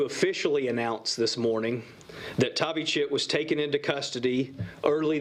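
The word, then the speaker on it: Thavychith: d-a-r-i-a-n middle name d-r-u last name t-h-a-v-y c-h-i-t-h pronounced tavi chit as soon as tavi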